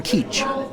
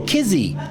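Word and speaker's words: Kizh: of differentiated, our name Keach. The spelling of it, K-I-Z-H, comes from a German ethnographer. That phonetic ZH is a ch sound to them.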